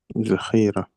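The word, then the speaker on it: ذخیره: الذخيره طيب الذال ايضا لا ينطق مثل الذال العربي وانما ينطق زي جيد امم امم امم نعم اذا لما نقرا الذال فنقرا مثل ونقول زخيره زخيره زهين زهين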